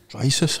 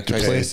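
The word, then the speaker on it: Du Plessis: Drysis. How do you say that? The Dreykus. South African guy. Duplessis.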